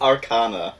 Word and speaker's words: arcana: Okay, is it arcana or arcana? It's arcana. Yeah, arcana.